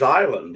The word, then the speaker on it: island: And I said, "The word's island. The S is silent."